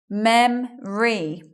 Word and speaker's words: memory: we're making it shorter the stress is at the beginning mem re we're not saying that o sound we're not hearing it in